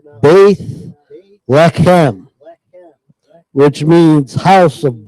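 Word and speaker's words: בית לחם: look up the Hebrew word for Bethlehem now Bethlehem that's how you say it in English Bethlehem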